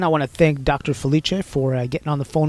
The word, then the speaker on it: Felice: come up that's and my last name is pronounced Felicia is spelled f as in Frank Yale I